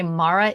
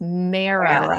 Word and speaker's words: MARA: about a program called, I say it wrong every time. I want to say Mara. It's Mara.